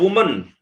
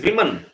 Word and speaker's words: women: how you pronounce that it is not woman it is women its wo and en women right so do you